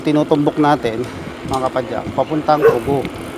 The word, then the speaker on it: Pugo: Pero yung tinutumbok natin mga kapadyak, papuntang Pugo. Pugo mga kapadyak ha. Yung iba kasi ang pronunciation nila Pugo eh. Pugo ha.